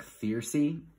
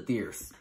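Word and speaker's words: thyrse: is called a fierce it kind of looks like fiercy which reminds me of thirsty which always makes me giggle a little um so this is a thierce a thierce looks like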